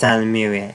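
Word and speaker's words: Ysalamiri: I know it's pronounced with an S, but it's Salamiri, I think.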